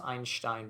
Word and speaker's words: Einstein: examples is einstein or who i pronounce einstein because of the german einstein uh was uh